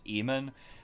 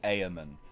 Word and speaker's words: Eamon: in this game that his name is pronounced eamonn because while i can see that it really looks like it should be amen which sounds way more like fantasy to me than eamonn eamon just sounds like